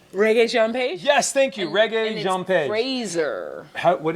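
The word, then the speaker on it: Regé-Jean Page: it's rage oh my God I can never pronounce his name reggae Jean page yes thank you reggae what is it Fraser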